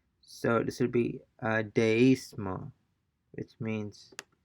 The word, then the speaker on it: deísmo: Since these words have a written accent over the letter I, the diphthong is broken and the two vowels are pronounced separately. Deísmo, So we have a written accent or the letter I, and by definition, they will be pronounced separately. The vowel sounds will be pronounced separately and not blended together.